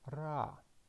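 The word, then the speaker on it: רע: consonant is I'm but ion is a silent letter it is not pronounced that is why it doesn't give any sound and we do not pronounce it so the what we can read as rah and the meaning is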